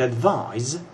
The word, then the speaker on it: advise: with a c and advise with an s it sounds a little bit like a zed but it is spelled with an s advice is a noun